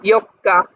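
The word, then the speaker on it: 四日: তারপর আবার এখানে ইও, এখানে হলো ছোট করে আছে, তাহলে কাটা দুইবার উচ্চারণ হবে, ইয়ক্কা 4 তারিখ।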